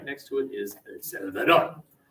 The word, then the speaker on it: El Salvador: The proper pronunciation of El Salvador is, as you say it, get quicker with your syllables and louder. It is not El Salvador. What are you talking about? It is El Salvador.